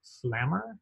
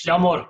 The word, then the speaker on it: Flamor: I see, is it Flammer? Is that how it's pronounced? Close enough. Sure. More or less, it's Flamor, but don't worry.